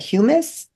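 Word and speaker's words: humus: So top soil also known as how do I pronounce that? Humis. H U M U- U S.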